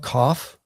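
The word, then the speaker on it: ק: And then we have cough, and that's got a K sound like in the English word king.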